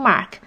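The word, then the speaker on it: 妈: Yes, the first tone is the flat tone, and the tone mark is the straight line. It's almost like you're singing. You pronounce words that have this tone in a high steady voice.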